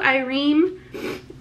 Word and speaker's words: Ireem: is it zuzu zuzu ireem e reem in quotes rhymes with dream okay so that's what